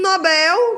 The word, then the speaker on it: Nobel: e não gratuito e o Nobel que é um oxit para Nobel né Então pessoal é isso